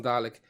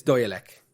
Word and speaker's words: Dalek: he called them garlic everybody calls him garlic its Dalek as how it's pronounced right let's just before